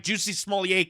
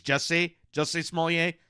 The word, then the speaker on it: Jussie Smollett: This is another, Juicy Smollett case. Is that how you say it? Juicy Smollett? That's the Dave Chappelle saying that guy's name. I think it's Jussie Smollett. I know it's French.